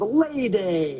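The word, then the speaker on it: Lei Day: It rhymes because it's called Lay Day.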